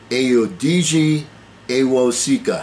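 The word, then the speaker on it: Ayodeji Awosika: and i want to get his name right ayodgi sika his last name is spelled a-w-o-s-i-k-a and he talks about some of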